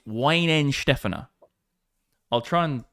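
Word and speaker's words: Weihenstephaner: Actually, it's not even Weinstein Fanger. I'm not saying it correctly. In the chat for Lucy as well. Bitcoin at resistance. It's It's Ween Stefaner.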